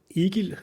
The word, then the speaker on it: Egil: go ahead okay so my name in danish is eager and i